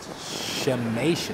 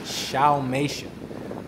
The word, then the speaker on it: Xiaomeisha: So it's pronounced Xiaomeisha, Xiaomeisha Beach.